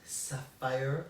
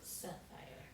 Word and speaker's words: Sahfyer: do you pronounce your organization's name it is pronounced Sapphire Sapphire yes Sapphire life management yes earlier years of